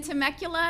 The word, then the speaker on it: Temecula: In Temecula at the end of this month.